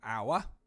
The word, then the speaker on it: hour: hadn't included our because that's not part of the alliteration because the h is silent so we should have known that for hour we don't hear that